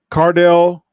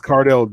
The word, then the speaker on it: Cardale: I mean, and that's one of those things that see, look, your boy, Cardell. First of all, you said his name. Really, Mo? You spelled his name wrong. It's Cardale Cardale, Cardale Jones, for one.